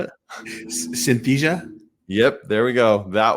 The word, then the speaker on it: Synthesia: I've used are are that word I can't pronounce that you just said how do you say it Synthesia yep there we go that one um chat